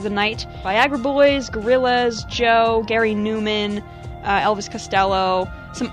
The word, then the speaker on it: Djo: them three tracks by djo pronounced Joe by the way I recently found that out it's pronounced Joe so there all right